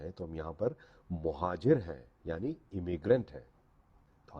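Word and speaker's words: مُہاجر: لفظ ہے وہ ہے مہاجر۔ اس کو اکثر مہاجر کہا جاتا ہے۔ مہاجر غلط تلفظ ہے، یہ زبر کے ساتھ نہیں ہے، یہ پیش کے ساتھ ہے۔ آپ جب بھی بولیں بولیں مہاجر۔ مہاجر کا مطلب ہوتا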